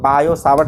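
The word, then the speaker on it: Biot–Savart: Generally यहाँ पे T silent होता है इसलिए उसका नाम बायो-सावर्ट लॉ पढ़ते हैं।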